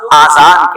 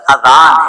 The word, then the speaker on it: اذان: بعض لوگ آذان کہتے ہیں، یاد رہے پہلے اذان کہتے ہیں کس طرح ہے اس کا تلفظ سے بچ لیں. آذان اذن کی جمع ہے، اذن کہتے ہیں کان کو، یہ آذان نہیں ہے، یہ لفظ اذان ہے، ٹھیک ہے.